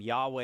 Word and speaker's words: Yahweh: same word yeah um technically Jehovah's the wrong way to pronounce it um Yahweh is more realistic because uh you don't have I think it's the J the J doesn't exist so at best it's